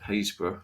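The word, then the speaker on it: Happisburgh: The first humans that we know of in the UK were at Haysborough. It doesn't look like it's pronounced Haysborough, but it is, in Norfolk, 800,000 years ago.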